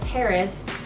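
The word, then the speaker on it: PVRIS: Another band with a female frontman is a band that I recently discovered called Paris, P-V-R-I-S, it's spelled.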